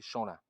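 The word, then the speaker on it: Champlemy: Apparemment, il ne faut pas prononcer le P de Champlain, donc ça fait Champlain.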